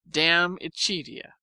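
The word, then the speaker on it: De Amicitia: We finished Libby and Danut and are now engaged with Diamichia, pronounced damichia.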